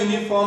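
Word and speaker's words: uniform: Umbrella आणि युनिफॉर्म दोघांचं spelling you न सुरू जरी झालेलं असलं तरी उच्चारामध्ये फरक आहे. यू य य य हा काय व्यंजन आहे, आणि अम्ब्रेलाचा यू जरी असला तरी तो काय? अम्ब्रेला.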